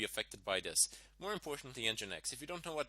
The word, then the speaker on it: nginx: doesn't seem to be affected by this and engine x also doesn't seem to be affected by this more importantly nginx if you don't know what the nginx is